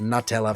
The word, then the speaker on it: Nutella: i feel as though no one is going out there saying nut is newt like that's just completely wrong and so it's nutella for me all the way and